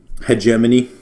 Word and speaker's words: hegemony: Hegemony, that word is pronounced hegemony.